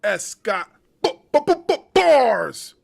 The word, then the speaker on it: S. Scott Bars: Once again, pronounce it like the letter and don't say it at all. Your boy S. Scott Bars, wrestling media.